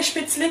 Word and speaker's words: Spätzle: Alors, on va faire un petit cours de prononciation, très bien vu. Donc les spätzle.